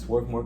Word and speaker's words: Swarthmore: Baltimore went on to attend Swarthmore College, I believe is how you say it. It's Swarthmore College, where he majored in biology.